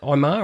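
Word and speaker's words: Ihmir: Did I pronounce his first name right? Is that Imar or Amir? Amir Smith Morissette? Amir, I think it is, yeah.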